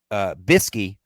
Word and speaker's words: bsky: I guess specifically it's at the Flying Cow Pod .bisky at her .social. That's the way it's spelled, BSKY, Bisky.